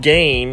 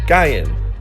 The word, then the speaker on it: Gain: to determine the pronunciation however I think the newer k-pop fans think her name is pronounced gain and not what it's supposed to be guy in actually this one's a